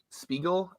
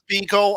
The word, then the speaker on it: Spiegel: Spiegel. I've always pronounced it as Spike Spiegel. Someone told me, no, it's not how pronounced the P sound.